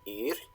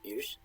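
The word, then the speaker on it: ýr: but the name, eolh, in Old Norse it's pronounced yr, or yr.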